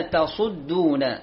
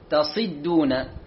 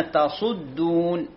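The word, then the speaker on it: تَصُدّون: نعم، قل يا أهل الكتاب لم تصدون، وليست تصي تصدون. البعض لهجة ينطق الصاد مكسورة. احنا فاتحين على صفحة 62. إذن الصحيح لم تصدون، تصدون.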